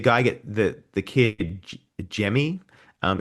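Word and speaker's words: Gemmy: Um is it Jimmy or G, do you think? I I I was Well, the audio book said Jimmy, so Okay. Yeah. Yeah. Is it spelled with a G?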